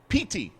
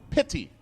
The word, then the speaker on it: Pity: the broad well technically the club pronunciation guide says that we should call number 10 PT Martinez I call him pity Martinez it's a no it's